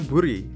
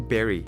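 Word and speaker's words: bury: Nah, mungkin kebanyakan orang akan menjawabnya buri. Kalau kalian menjawab buri, itu salah, teman-teman, karena ini sebutannya itu berry. Walaupun tulisannya nggak ada huruf E-nya, tapi ini bacanya berry.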